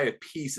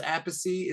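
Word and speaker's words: Appice: got was it Carmine I think he goes by a piece and his brother goes aacy it's they have two pronunciations but Vanilla Fudge Rod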